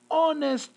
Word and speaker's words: honest: not pronounce the h if i do not pronounce the h i'm going to use an an honest man so the is used